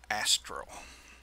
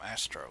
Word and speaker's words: astral: it's except how you how you actually pronounce it astral I've been calling them Astro diamonds alright let's identify